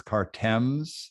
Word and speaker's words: Cartems: check out cartoms Donuts it's cartems Donuts but if you say cartons it's okay yeah okay we don't